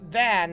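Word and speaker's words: Vaan: Inte van eller van. Van. Så ska det nog uttalas.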